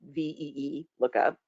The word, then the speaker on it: VLOOKUP: how to say it it tried to phonetically pronounce v lookup so I had to go in and edit the script so that it said ve lookup but but that's not